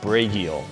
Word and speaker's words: Bragiel: My name is Bragiel, that's B-R-A-G-I-E-L. It's pronounced Bragiel. Originally though, it was Bragiel. And that's the Polish version before it got Americanized.